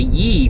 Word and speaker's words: Yi: Now the Yi, from what I understand, it's spelled Y-I, is supposed to be a pretty